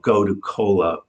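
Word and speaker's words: Gotu kola: hyperactivity and it's called go to cola. It's spelled go tu first word k o l a. And yes, it does sound like a soft drink, but it is not.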